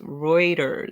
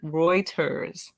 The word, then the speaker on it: Reuters: providing the treatment um thank you pronounce reuter Reuters nice because I was butchering it and then I knew it was wrong but it was like